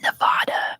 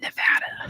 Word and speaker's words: Nevada: So if your regional accent says Nevada, I'm not gonna default you on that, but just know that in America it's pronounced Nevada.